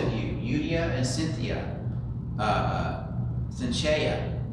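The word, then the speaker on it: Syntyche: And so Paul is saying, I urge you, both of you, Eudia and Cynthia, Cynthia, I always pronounce Suntihe, excuse me, we'll do it through Greek pronunciation, Suntihe, to be of the same mind.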